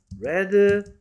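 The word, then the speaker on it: read: 한번 어떻게 읽어야 돼요 스펠링은 똑같은데 위드 레드 레드고요 해브 뒤에 왔으니까 이거는이 녀석이라고 읽으면 안 됩니다 이거 쉬운 문제 어떻게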